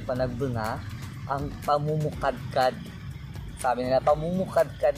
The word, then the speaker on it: Panagbenga: Pero pag nasa Norte kasi talaga, Panagbenga, ayun yung correct na pronounce nyo, Panagbenga, ang pamumukadkad, sabi nila, pamumukadkad ng bulaklak.